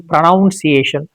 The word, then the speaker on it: pronunciation: Sometimes people say pronunciation pronunciation. It is not pronoun. It is pronunciation.